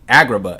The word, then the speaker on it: Agrabah: Lilo and Stitch map, and then we got Agrabah. Agrabah. Every time I say it, Agrabah, it sounds like I'm not saying it right, but it is right.